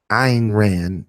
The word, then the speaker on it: Ayn: occult his own record I got more and Iran is the West pronounced I don't know why like saying Han